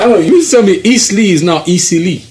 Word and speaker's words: Eastleigh: Easily, that's how Easily, that's how they pronounce it. it. That's how it's written. It's easily. It's easily. Okay. But they say easily.